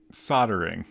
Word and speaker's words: soldering: word that oh right soldering that's just got like a whole l in there yeah and Americans are like whatever that's no we don't need to say that does anyone pronounce the L thanks uh apparently Australians do uh I'm not sure